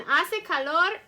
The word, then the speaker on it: hace: it's very hot and ase calor just means it's warm hace i didn't say ha se calor because the ancient spanish is silent i said ase calor ase calor okay so